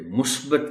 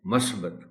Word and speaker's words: مثبت: کے ساتھ بولیں اور اسے مثبت کہیں، مثبت کبھی نہ کہیں۔ اثرات، یہاں سے پر